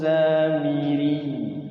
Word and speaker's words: السامري: Wa adhallahumus samiri. Miri itu ya. Samiri kayak ya ayuhan nabi kayak gitu ya. Bukan panjang tapi dia ditekan karena double.